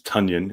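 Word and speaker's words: Tonyan: robert big bob tanyan yes tanyan is the correct pronunciation apparently um you know maybe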